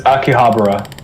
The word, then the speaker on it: Akihabara: It's a Akibahara city district. City district. How do you say Akihabara. it? Akihabara? Akihabara? It's Akihabara.